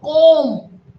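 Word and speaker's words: comb: बोलो कोम, कोम, इसमें B silent है।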